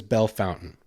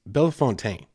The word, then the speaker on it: Bellefontaine: Everyone says Belle Fountain. It's Bellefontaine. Like there's not even a U in there, but everyone just says Belle Fountain.